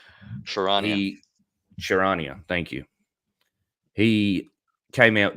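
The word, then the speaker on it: Charania: I think it's James Bond, Shanaria. Sharania. Sharania, thank you.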